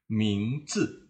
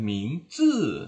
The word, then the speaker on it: 名字: Tapi kalau digabungkan, zi ini dibaca nada ringan. Mingzi. Jadi bukan mingzi ya. Kita bacanya ringan saja. Mingzi. Tapi jangan dibaca mingzi ya, menjadi nada ketiga.